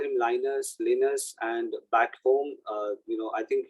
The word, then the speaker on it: Linus: So people call him Linus, and back home, I think he's in a Helsinki. So he's a Greek guy. He's not a Swedish guy. Sorry. So his actual pronunciation for his name is Yunus, and he's least bothered about pronunciation of his